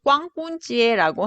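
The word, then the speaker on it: 光棍节: 중국에는 이 광군제가 있는데 이 광군은 중국어로 꽝꾼지에라고 하는데 발음이 이- 좋으신데요. 오. 뭐 튼 거 아니죠? 그러니까. 아니에요. 이거 나 실제로 중국 사람한테 물어봤어요. 발음 어떻게 하는지.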